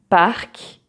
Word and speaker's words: parc: So for example, you have so lac, sac, parc. Donc j'habite près d'un parc où il y a un lac. So you see here, every time the C is pronounced.